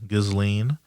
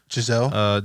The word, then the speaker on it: Ghislaine: Ghislaine. Giselle, Giselle.